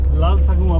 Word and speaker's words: Lalsavunga: ठीक है भैया, लाल सगुआ पार्क बोल दीजिए आप थोड़ा प्रोनाउंसिएशन। लाल सगुआ पार्क।